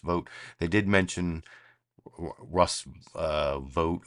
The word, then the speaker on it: Vogt: Apparently his name is pronounced Vogt.